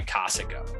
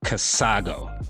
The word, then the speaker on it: Casago: brought to you by kosico and we john you mean casago no i meant casago john that's not how you say it you gotta get our sponsor's name right man anyway as i was